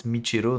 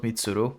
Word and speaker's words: Michiru: Though they did pronounce my name wrong. It's Michiru, not Mitsuru.